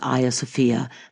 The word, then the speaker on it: Hagia Sophia: So for nearly 1,000 years, Hagia Sophia, that by the way is the Greek pronunciation, was the largest cathedral in the world.